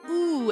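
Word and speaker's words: う: U is always pronounced with, like ooh, as in the word boo, is written with 2 strokes.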